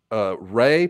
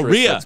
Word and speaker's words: Rhea: Ray Perlman. Is that how you pronounce her name? She was the waitress. Oh, Rhea.